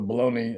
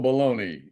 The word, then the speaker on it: Bologna: you gotta spell it Bologna and pronounce it Bologna.